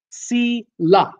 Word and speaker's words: Sheila: Sheila Sheila said you're saying my name Ron it's si la ok thank you for